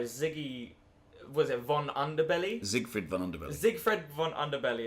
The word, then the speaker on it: Zigfrid: Actually, the way you pronounce it, Zigfred.